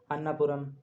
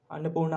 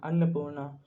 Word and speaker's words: अन्नपूर्णा: ऐसे बड़ा बड़ा धौलागिरी अन्नापुरम अन्नपूर्णा उसको बोलते हैं अनपर निकलता है मेरे से अन्नपूर्णा मान सालू और और